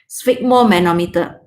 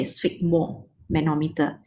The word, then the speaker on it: sphygmomanometer: Okay, how to pronounce it? It's just as okay. Sphygmomanometer. The manometer, put it separately. Just say sphygmomanometer.